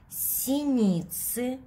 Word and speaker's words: синицы: Скворцы и синицы. Это словарное слово. Си. Ни. Синицы.